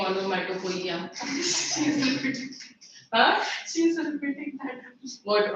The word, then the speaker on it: onomatopoeia: Spelling देखो आप, it's not onomatopoeia. Okay? The O is silent. You're laughing at the wrong pronunciation. I imagine someone saying onomatopoeia.